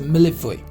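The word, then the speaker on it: mille-feuille: It's a millefeuille. Some people pronounce this one as a millefeuille, also millefeuille, but this is like millefeuille, right?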